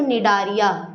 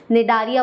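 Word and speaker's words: Cnidaria: नाम होता है बच्चों नेदारिया क्या होता है निदरिया यहां पे साइलेंट है आप बोलेंगे मैं क्या पढ़ रही हैं अरे भैया सही पढ़ रही हूं नारिया बोलते हैं सी साइलेंट होता है है ना तो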